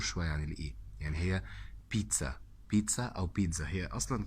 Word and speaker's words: pizza: وعندنا حرف الزد او الزي في الايطالي بينطق ت او دز، شايفينها ت او دز. فهي بيتزا او بيتزا، لكن ما حدش يقولها بيتزا. بيتزا جاب لك بيتزا، لا مش هينفع طبعا، كده غلط.